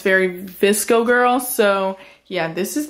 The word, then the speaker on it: VSCO: VSCO.